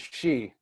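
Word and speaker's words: Xi: the problem is in in Chinese X is pronounced as Sh at least from what I saw so like your president X I is she but in English its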